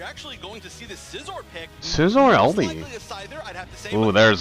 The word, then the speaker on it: Scizor: It's Scizor, as in Incisor.